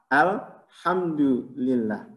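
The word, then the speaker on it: الحمد لله: Kalau ada yang bacanya belum pas, nyebut antara ha dengan ha, nah ingatkan, yang benar adalah ha, alhamdulillah, bukan al-ha.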